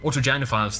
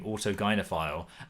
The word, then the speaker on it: autogynophile: I I like how the clip he showed presented someone not accurately pronouncing autogynophile and then included Helen Joyce correcting him on the pronunciation of Autogynaphile.